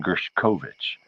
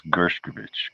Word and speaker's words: Gershkovich: say his name because a lot of people were saying gershovich and as I'm explained last year I don't like that I don't think that's right I think it's gershkovich because one of his